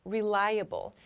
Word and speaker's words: reliable: section the word reliable reliable so here we see this able or the pronunciation in this case is hubble meaning able to do